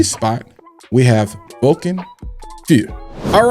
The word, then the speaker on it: feu: have that Vulcan, and this is Feu, not Fouet. It is spelled F-E-U. If you take French, that's Feu, Feu. It has nothing to do with Fouet.